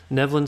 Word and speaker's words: Nevland: Nevland spelled like the land of Nev.